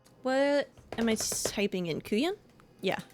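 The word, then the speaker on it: couyon: Kuyan. Yeah. C O U Y O N. Pronunciation, which I know I've probably heard it. Okay. Cajun French word is called ku yan.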